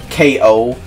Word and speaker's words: Cow: I'm not, K.O. Name is spelled cow, but it's pronounced K.O.